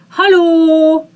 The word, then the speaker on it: Hallo: Hallo, hallo. Make L soft.